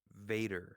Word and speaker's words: Vader: Don't be like a German Darth. and pronounce your V's as W's. They have that habit. Vader.